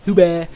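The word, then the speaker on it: Huweh: If you guys want to tweet at him, ask him what Huba means and spell it H-U-W-E-H. Huba, Huba, Huba, Huba, Huba, Huba, Huba.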